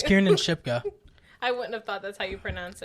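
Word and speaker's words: Kiernan Shipka: like I read her name differently oh it's Kier and shipka I wouldn't have thought that's how you pronounce it and uh Biff tannan is played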